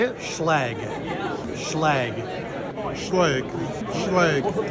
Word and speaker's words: Schlage: So the founder of Schlage was Walter Schlage, not Schlage or Schlage or however you say it. Okay, how do you say it? Schlage.